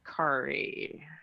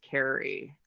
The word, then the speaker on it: Kari: So I realized that it's actually Kari, even though everyone in New York says Kari.